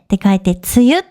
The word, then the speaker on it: 梅雨: Nó được viết bằng các chữ Hán có nghĩa là "mận" và "mưa", và được phát âm là "tsuyu". Tôi tự hỏi liệu có